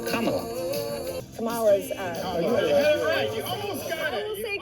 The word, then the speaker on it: Kamala: Just combine comma with la, and you get Kamala.